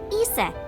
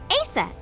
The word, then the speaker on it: Aset: But in ancient Egyptian, it's pronounced closer to Iset or Aset.